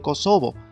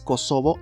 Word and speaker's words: Kosovo: de kosovo Sin embargo la expresión en español la expresión hispanizada es kosovo y no kosovo que es más bien una traducción al inglés es una pronunciación estilo inglés y bueno lo que